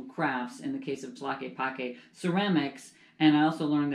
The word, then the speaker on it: Tlaquepaque: a which I had to learn how to pronounce but I did a little research into tlaquepaque and it's this pueblo meheeco this magical town